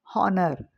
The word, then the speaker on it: honor: And R, H is silent. R, and honor.